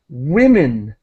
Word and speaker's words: women: you there thank you and just the strange pronunciation of this word in English it's women so really whim women with like a w